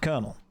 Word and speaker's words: colonel: Like, I mean, colonel is a good one there. It's not pronounced colon el. It's pronounced kernel.